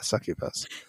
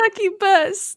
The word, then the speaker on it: succubus: you say it right are you saying it wrong on purpose yep definitely saying it wrong on purpose it's a sucky bus not a but succubus is way better and that is the only way I'm saying it from now on sucky Paws Sarah is